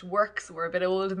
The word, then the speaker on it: WRX: of choice is works we call it wrx but it's meant to be pronounced works we're a bit old